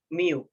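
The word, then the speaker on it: μ: So we use the symbol mu. So mu is a Greek symbol. Okay, so it's spelled as M-Y-U.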